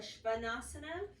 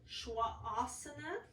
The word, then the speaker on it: Svanasana: did a training and I've always said Adho Mukha Svanasana, and apparently the correct way to say it is Shwasana, if you actually build the word.